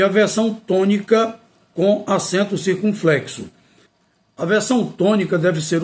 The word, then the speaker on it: circunflexo: circunflexo É bom lembrar muita gente pronuncia circunflexo mas não é circunflexo circunflexo então quando usar o